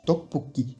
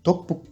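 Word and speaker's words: 떡볶이: Donc je vous le reprononce, tteokbokki, tteokbokki.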